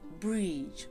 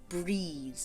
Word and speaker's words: Brigid: For women, this is their day too, because of course this day is the honour of Brigid, or Brides, depending on your Gaelic pronunciation, which is spelt like Brigid.